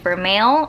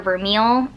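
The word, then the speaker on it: vermeil: have a lot of gold for male or vermeel depending on how you want to pronounce it and that's just a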